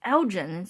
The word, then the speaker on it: Elgin: she's like so you know like he said algún it's sitting in Scotland she said it's spelled ELG I n as I oh you mean Elgin it's like not algún it's actually pronounced Elgin